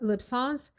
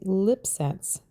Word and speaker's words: LipSense: It's actually just a combination of the word lips, like the lips on your face, and the first syllable of sensuality. LipSense.